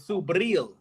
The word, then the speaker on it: Subriel: Hold on, Lo, you got to say it right. It's Subriel.